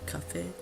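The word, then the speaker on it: café: not be pronounced but an E with either a grave accent or an acute accent will both be pronounced at the end of the word you now know the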